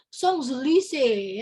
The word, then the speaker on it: Champs-Élysées: Ini tulisannya lah tuh, Champs-Élysées ya, tapi bacanya bukan gitu. Bacanya Champs-Élysées ya, ada lagunya.